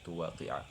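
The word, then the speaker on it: تُوَاقِعَ: Au tuwaqi'a, ya bacanya tuwaqi'a, huruf ainnya fathah karena dia matuf kepada hatta. Au taqtula hadzal sabiyya, atau engkau membunuh anak kecil ini.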